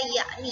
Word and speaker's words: yakni: Nah, di ejaan Republik dia berganti menjadi jakni, dibaca yakni ya. Penulisannya jakni, berbeda dalam pengucapannya yaitu menjadi yakni.